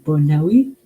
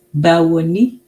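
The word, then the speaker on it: Báwo ni: Hold on, let me say Bonawi. Hold on. I remember it. It was Bona. Okay, so hold on. Oh, okay. It's Bawoni. Yes, Bawoni.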